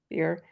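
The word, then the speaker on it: bier: a on a beer is that how you pronounce that word yes beer it did not surprise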